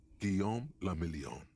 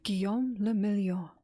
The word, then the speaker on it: Guillaume le Million: Guillaume le Million. If it doesn't rhyme, you're not pronouncing it right. Guillaume le Million.